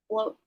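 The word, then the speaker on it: blót: Vallus bloat? Vallus blot? Something blocked. Bloat. Bloat? Okay. Yeah, blot is bloat.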